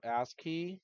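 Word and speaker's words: ASCII: you just have to look it up so ask key is that's how it's spelled it is American Standard code for information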